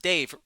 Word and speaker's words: Dev: Is it It's pronounced Dave, right?